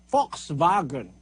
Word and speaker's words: Volkswagen: Merong mga barriers sa lengguwahe, Para mga German yan Yung W, they pronounce it as V. Volkswagen. Volkswagen. Eh kung babasahin mo yun sa English, Volkswagen. Ayun ang basa ng mga English. Pero sa German, Volkswagen.